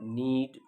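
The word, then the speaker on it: knead: If you want to give a negative answer, then no, I do not need flour every day. One thing to remember, the spelling is K-N-E-A-D. The pronunciation need.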